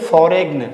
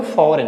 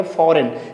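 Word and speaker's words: foreign: फॉरेन। क्या बोलेंगे? फॉरेन। यानी जी को हम उच्चारण नहीं करेंगे।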